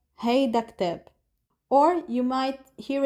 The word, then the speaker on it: هيدا: For example, if you're talking about هيدا, certain people drop the last part of هيدا, so it becomes he alone, he.